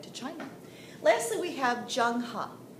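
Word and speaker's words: Zheng He: China lastly we have Jung ha doesn't look like it but that's how you say it junga junga was the commander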